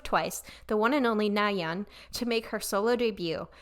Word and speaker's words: Nayeon: But first I'm going to double check how to pronounce her name because I don't want to be saying it wrong the whole video. Nayeon. Okay, Nayeon.